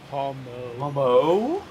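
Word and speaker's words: Pomeau: And the mid form is Pommo. If the middle form wasn't called Pommo, I would assume that the T was silent in Pommont. I would pronounce that one Pommo if Pommo didn't exist. P-O-M-E-A-U.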